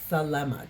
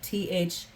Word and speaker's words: Thelema: It's really hard to say Thelema. Thelema. Thelema. Yes, crazy, right? For some reason, phonetically, that's hard.